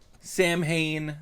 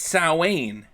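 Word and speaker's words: Samhain: Sam Hayne. That's annoying. Sam Juan. People No. Everyone was calling it Sam Hayne. No one knows the correct Gaelic pronunciation. It's It's Sain.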